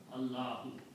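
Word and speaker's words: اللهُ: Allahu. Okay. So the Arabic word is not Allah. It is Allahu.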